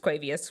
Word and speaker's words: Quavius: Quavius, just Quavius Marshall, not to Quavius.